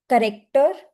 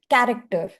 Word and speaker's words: character: The person pronounced as corrector, which means a person or a tool that corrects errors, but it should have been character, which has several meanings.